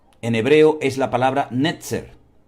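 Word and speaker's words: נצר: Entonces puede ser, la explicación más lógica es que como la palabra vástago se pronuncia y es muy, muy parecida a la palabra nazareno en hebreo, puede ser que de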